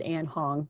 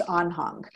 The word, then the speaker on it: Anhang: way but i think in german which is where it comes from it's on hung so you did you